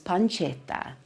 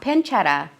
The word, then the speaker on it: pancetta: this, you can use pancetta, not pancetta, pancetta. Again, those two consonants at the end, those T's, make the emphasis go on that part of the word, pancetta.